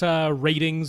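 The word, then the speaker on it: RTINGS: So over at Ratings, which is how they say it, it's like R-tings, but over there.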